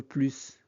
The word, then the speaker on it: plus: Marc, c'est vrai, mais maintenant j'en veux plus dans cette phrase plus signifie encore davantage et il est à la fin de la phrase. On prononce donc le S. C'est vrai, mais maintenant j'en veux plus.